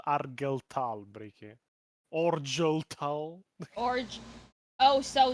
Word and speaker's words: Argel Tal: Then you meet Dante or Bjorn or Argel Tall or K or Lucius. Arlel Tal. It's called Argel Tal.